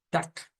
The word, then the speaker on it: Tag: como por ejemplo que esta G miren se convierte en una K O sea no suena como Tag nosotros diríamos como t no suena a suena a Tac G y es la frase